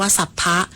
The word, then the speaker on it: สรรพ: อาจ สู้ ริปู สลาย คำ ว่า ศัพท์ ใช้ ผสม กับ คำ อื่น ออก เสียง ว่า สัพพะ แปล ว่า ทั้ง หมด